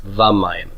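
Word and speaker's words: וָמַיִם: And so sometimes that vav will have a vocal shava that opens up and becomes a full kametz, va-mayim.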